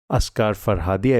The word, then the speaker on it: Asghar Farhadi: Oh, what a brilliant film from a genuinely genius filmmaker, Asghar Farhadi. I believe that's how the name is pronounced.